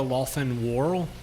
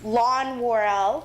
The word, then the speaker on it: Lawson-Worrell: Lawson-Worrell. Okay. Hi, good evening. It's Lon Worrell, but that's okay. Right. It's spelled funny.